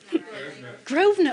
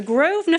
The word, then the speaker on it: Grosvenor: Did I pronounce that one right? Grosvenor, oh my God.